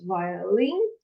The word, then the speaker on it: violin: He also studied violin, 3 syllables, violin, okay, violin, this, okay, okay, a musical instrument that we can use, okay, and the piano.